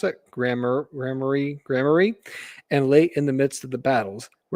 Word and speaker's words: Gramarye: The Council of Masters, a revered assembly of these voted lieutenants, would gather in the great fortress of Greymayer, how do we pronounce it? Gramarye, and late in the midst of the battles, where their decisions shape the fate of worlds.